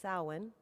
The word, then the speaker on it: Samhain: usually spelled s-a-m-h-i i'm sorry h-a-i-n but it's pronounced samhain is the pagan holiday celebrating both the beginning